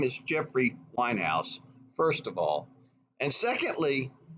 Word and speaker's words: Weinhaus: regards to the quote unquote Weinstein case it's pronounced Winehouse his name is Jeffrey Winehouse first of all and secondly merb has never